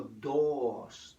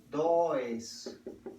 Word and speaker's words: does: Porque cuando vamos a negar en presente, el verbo do para la tercera persona no es do, sino dos. Dos. Se escribe dois.